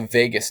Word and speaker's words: vagus: see something called the vagus nerve i know it's not spelled like las vegas but it's the vagus nerve v-a-g-u-s and um here i